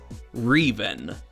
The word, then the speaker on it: Reven: After a year of contemplation, they've decided that the proper way to pronounce their username is Reven.